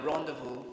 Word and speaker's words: rendezvous: this word the Rendezvous you have silent letters there for example the Z in that word is silent and the S at the end of the word is also silent and the E there the first e of that word takes the sound words are o the